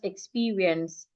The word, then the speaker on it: experience: We had learned how to stress experience. Exper we stressing the second syllable experience.